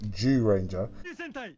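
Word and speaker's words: Zyuranger: And so that season of Mighty Morphin, the first 3 seasons, is actually called Ziyu Ranger, or as some might pronounce it, Jew Ranger.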